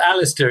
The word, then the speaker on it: Alasdair: Do you just want to spell it out just so people can Okay. Well, Alistister, it's a L A S D A I